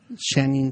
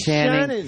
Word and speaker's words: Channing: You said Shannon. He said Shannon.